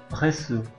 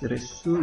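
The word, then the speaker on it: reçu: dibaca S walaupun e diikuti oleh A jadi walaupun a i terserah dia akan selalu dibaca S fas GL Kalau sa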